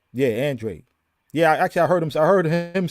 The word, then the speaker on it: Andrade: Actually, it's just like it's spelled phonetically. Yeah, Andrade. Yeah, I heard him say it. So yeah, Andrade.